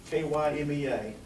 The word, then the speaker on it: KYMEA: And they trying to decide what to call themselves, so it's KYMEA. The acronym is in all caps. It's just pronounced, just say the letters.